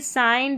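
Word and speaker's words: sign: तो जी यू साथ में रहेगा और इसको ग करके प्रोनाउंस कर देंगे। नंबर 49 पर है जी एन। इसको न पढ़ेंगे। साइन डिज़ाइन यहां पर है फॉरेन कैंपेन तो लास्ट में देखिए जी एन आ रहा है।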